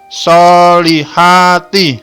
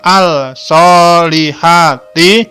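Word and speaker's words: الصالحات: lam diikuti huruf shod bacanya langsung solihati tidak Al solihati tapi langsung solihati paham ya oke contoh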